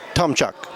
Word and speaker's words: Tomchuk: I'm Lori Lane Zucker, founder and CEO of Impact Entrepreneur, and we're at SOCAP22 in San Francisco with Gary Tomchuk. Did I pronounce that correctly?